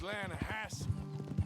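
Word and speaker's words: Lannahechee: You mean the Lanahassee River? No. The Lanahatchee. It runs right near here. Yeah, but it's pronounced Lanahassee.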